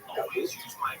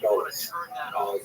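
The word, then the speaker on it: גלות: In Hebrew, galut, or in a Ashkenazi pronunciation, galus, that Jews were thrown out of their land.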